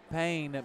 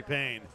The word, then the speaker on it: Payne: out to support Kelly Payne. What a name for a heavyweight fighter. Yeah. P A Y N E. But it's pronounced the same way as he delivered that blow.